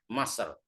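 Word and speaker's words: مصر: Yiru mahattoh Masr. Kata-kata Masr ini orang Mesir kalau bilang Kairo itu enggak Kairo tapi bilang Masr.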